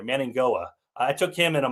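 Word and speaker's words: Mauigoa: There's got to be Manning Goa. It sounds like an NG in there. Manning Goa.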